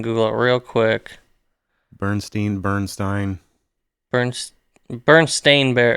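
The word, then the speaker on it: Berenstain: Bernstein Bear. It ends with Stain. Stain.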